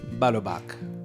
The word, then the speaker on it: Balubach: My luminary guest today is my dear friend Balobach. Did I pronounce that correctly? Yeah. Oh, good. Yes. Balobach.